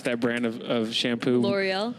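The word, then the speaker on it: L'Oréal: sounds believable seven I don't know how to pronounce that brand of shampoo L'oreal L'oreal thank you here sponsored by L'Oreal in the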